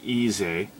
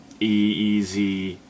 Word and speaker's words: Eez-eh: But it does flow well into the next track, Easy. I think that's how you're supposed to pronounce it, because it's spelt weird. It's EEZ-EH, so who knows.